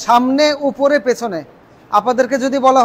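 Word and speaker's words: ثاء: সায়ের উচ্চারণ কোথায়? সামনের বড় বড় দুই দাঁতের পেছনে জিহ্বা লাগিয়ে সেখান থেকে সা বলে ছেড়ে দিতে হবে। সা সা সা। একটু হালকা বাতাসের মতো সফট উচ্চারণ হবে।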